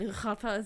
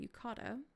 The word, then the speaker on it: yukata: I don't know why I said yucata, so that was actually the way to pronounce it. So we're not distracted by bright yukata.